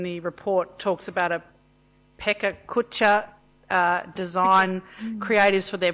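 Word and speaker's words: Pecha Kucha: the items in the report talks about a pekka kutcha uh design creatives for their projects how do you say it marisha pechakucha thank you uh council harwood um what a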